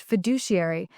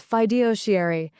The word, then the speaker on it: fiduciary: He mispronounced fiduciary as fidosiary in a leadership meeting and nobody corrected him because his last name was more powerful than accuracy.